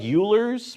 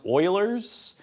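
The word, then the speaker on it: Euler: It's called It looks like Ulers, but it's pronounced Oilers. It's a German last name.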